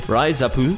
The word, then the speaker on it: RIZAP: that I never did, Raizapu, or as it's spelt in English, Rizap, the baseball management from